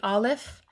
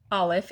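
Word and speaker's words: א: All right, the very first letter in the Hebrew alphabet is the Aleph. It's a silent letter. It doesn't make any sound on its own.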